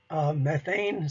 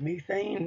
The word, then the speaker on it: methane: So water or water vapor and carbon dioxide, and you can also learn later methane. Some people call it methane, and both pronunciations are correct.